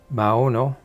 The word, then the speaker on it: Maono: footnote to the mauno i think i was pronouncing it wrong before mao no microphone first of all